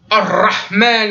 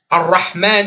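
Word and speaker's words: الرحمن: Ar-Rahman, Ar-Rahim. Non, c'est léger. Rahman. Ar-Rahman, Ar-Rahim. C'est très léger. Le ra, il est tout discret.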